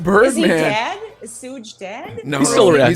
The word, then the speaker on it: Suge: It's pronounced Suge Knight.